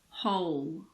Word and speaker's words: whole: If a word starts with WHO, the W is often silent. For example, who, whoever, whole.